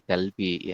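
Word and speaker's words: 갈비: ah galbi ini Tulis oh itu bukan garbi tapi galbi ya galbi gal kemudian seperti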